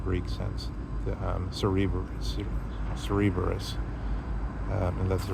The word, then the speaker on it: Cerberus: the classical um Greek sense, the um Cerberus, Cerberus. Um and that's the right pronunciation.